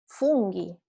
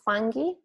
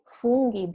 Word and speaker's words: funghi: And also funghi, not fungi, funghi, because the U is pronounced U. And the GH sound is always strong.